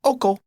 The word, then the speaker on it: Oko: called oo OKO yeah OKO like the Scooby Snack I guess so I